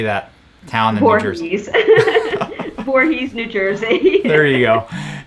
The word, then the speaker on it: Voorhees: Voorhees, New Jersey.